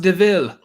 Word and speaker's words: de Vil: cruella yeah um it looks like devil but it's sometimes pronounced deville i'd rather like that